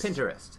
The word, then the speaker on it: Pinterest: pinterest i say pinterest pinterest because it's like because it's an interest it's that's how you say interest pinterest i just painted in front of it pinterest you say interest pinterest